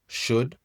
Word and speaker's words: should: Première chose les trois mots should would et could tu prononces pas le c'est pas ou would ou could tu prononces pas le l.